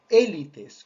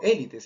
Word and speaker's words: élite: La palabra en francés se pronuncia élite, no tanto élites. Esa es una castellanización, vamos a decir, pero que en realidad podría y debería respetarse la forma del idioma original.